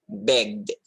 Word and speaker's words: begged: It can be pronounced as the, just like this word, begged, begged, begged.